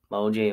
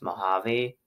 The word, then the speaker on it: Mojave: I keep saying Mojave High School, but it's pronounced Mojave High School.